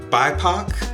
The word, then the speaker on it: BIPOC: how to say bipoc i've heard it pronounced by poc like tupac but i woke up